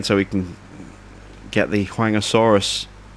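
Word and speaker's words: Huayangosaurus: Same location again, so we can get the Huangosaurus. Or Huangosaurus, I think it's pronounced.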